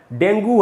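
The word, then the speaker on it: dengue: दोस्तों डेंगू अब चल गया अपने देश में, सब लोग डेंगू बोलते हैं इसको, लेकिन ये इसका एकदम ही गलत उच्चारण है। इसका शुद्ध उच्चारण है दोस्तों डेंगी, डेंगी। इसका एक और भी उच्चारण है, वो है डेंगे, लेकिन अब वो और भी मुश्किल है, इसलिए डेंगी ही रहने देते हैं। तो डेंगी हमको इसको बोलना चाहिए, डेंगू नहीं बोलना चाहिए।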